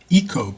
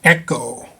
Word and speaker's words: IKKO: by a company, IKKO, which you might think would be pronounced Eco, but no, they want Echo, which kind of makes sense.